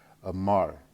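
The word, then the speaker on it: אמר: Amar. Amar. I said Amir before, but it's Amar.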